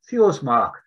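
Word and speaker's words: Þórsmörk: Often out there, if you see a P, it's not a P in Icelandic, but it's pronounced as a TH. So when you see it in the map, it will be Fjordsmark, but it's actually Fjordsmark.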